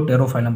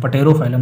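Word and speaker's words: Pterophyllum: और जो टेरोफाइलम होता है इसको पी साइलेंट होता है इसलिए हम इसको टेरोफाइलम पढ़ते हैं, टेरोफाइलम पटेरोफाइलम नहीं टेरोफाइलम ठीक है, जिसको हम बोलते हैं एंजल फिश ठीक है, एंजल फिश।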